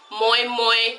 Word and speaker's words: moi moi: acai has a totally muy muy that's how it's pronounced to wrap lime online